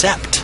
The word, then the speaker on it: sept: The French word for seven is sept, a word that does not have a long A sound in it.